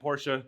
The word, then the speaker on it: Porsche: named after corvette and porsha is after porsche and how you actually pronounce it so what we need